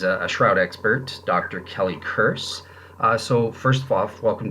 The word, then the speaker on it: Kearse: So it's Kelly Kearse, so it rhymes with Pierce. Kearse.